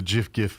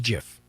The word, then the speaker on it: GIF: But yeah, he's the creator of the actual thing says it's supposed to be pronounced GIF.